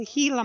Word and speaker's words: Gila: before this is the Gila monster and correctly pronounced the heila monster it is spelled g